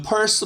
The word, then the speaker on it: pulse: 6번 문장 chase pulse. 이게 저기 pulse는 비슷한 발음으로 지갑도 있잖아요. 그래서 P-U-R-S-E가 있는데 그 pulse 말고 이 pulse는 L 발음을 조심하셔야 되고요.